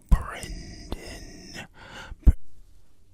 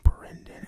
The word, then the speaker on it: Brendan: Because I remember the first time I saw the name Brendan, and I was a little taken aback. Like, what do you mean there's an E in there? What do you mean it's pronounced Bren?